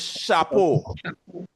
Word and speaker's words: chapeau: So let's say this chapeau. Chapeau. So when you hear the sound sh, it's not SH, it's CH.